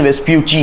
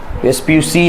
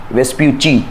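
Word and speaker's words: Vespucci: उसका प्रोनाउंसिएशन वेस्प्यूची है, वेस्प्यूसी नहीं है, वेस्प्यूची, ची बोलना है आपको।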